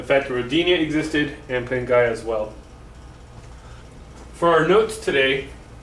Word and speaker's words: Pangaea: have heard it pronounced pangaea it's more properly pronounced pingaia it's a latin word and before that we